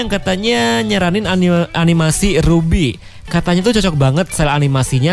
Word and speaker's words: RWBY: ruby itu hanya tapi rwby kapital semua walaupun itu bacanya ruby gitu dan ini tuh sebenarnya